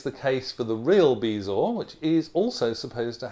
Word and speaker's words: bezoar: of the day is bees or a couple of different pronunciations but as far as I can see bees or is the one to go for and it comes to